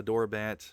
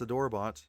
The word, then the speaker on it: Adorbots: Um I I can already imagine all the people are going to how they're going to pronounce it. I Adorbat uh or or however they're going to do it, but uh it's Adorbots and it doesn't matter if you pronounce it differently.